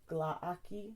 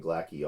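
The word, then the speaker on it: Glaaki: revelations of rocky rocky I looked up the how to pronounce it it's a key I've been saying Blackie all my life I'm stunned that we were incorrect here because I looked it up and I think the Arkham House pronunciation key has it listed as a key if that's not it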